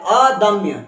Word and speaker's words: अदम्य: चलो आगे देखते है अदम्य द म्य म्य लिखा हुआ है आधा म और य तो जल्दी बोल देंगे म्य बोल देंगे तो क्या बन जाएगा अदम्य जिसको दबाया ना जा